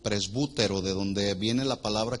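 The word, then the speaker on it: πρεσβύτερος: Anciano es la palabra del griego presbútero, con B de bueno y acento en la U, presbútero, de donde viene la palabra que conocemos presbítero.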